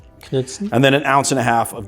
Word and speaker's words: Knudsen: The K is not silent. K-N, yeah, it is silent. K-N-U-D-S-E-N? Yeah, Knudsen. It's Knudsen. Is it Knudsen? That's Is it though? That's, I mean, it's Danish or Norwegian, Oh, is it though? and it's Knudsen.